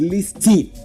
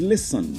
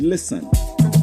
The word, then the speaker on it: listen: The t in listen is silent. You don't get to pronounce it. And that word is listen.